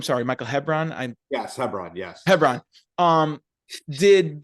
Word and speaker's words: Hebron: Sorry, Michael Hebron.